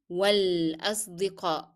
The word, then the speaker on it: والأصدقاء: Then again, we are going to drop in pronunciation the sound of alif and move directly to lam. والأصدقاء. So صاد is a hard sound.